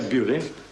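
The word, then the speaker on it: Beaulieu: Oh, isn't that near Bewley? Yes, but that's already gone. Montague bagged it first, back in Norman times. Spelled the same, pronounced different, practically next door.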